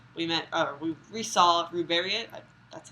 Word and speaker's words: Ruberiot: ones, but uh, we met we we saw Ruberiot.